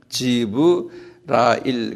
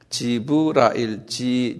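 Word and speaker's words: Jibrail: 가브리엘 근데 이분들이 읽을 때는 가브리엘이 아니고요. 내가 오늘 그 지브라일 그래. 라일. 지브라일. J-I-B-R-A-I-L. 지브라일.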